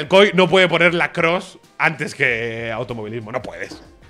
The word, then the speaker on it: lacrosse: Pero en lacrosse, en lacroix... No sé por qué le pronuncio lacroix. En lacrosse, tío.